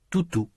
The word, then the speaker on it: toutou: Tante Georgette a un toutou. Notez que les voyelles dans tutu sont très différentes des voyelles dans toutou. Vous allez entendre des phrases qui parlent soit de tutu, soit de toutou.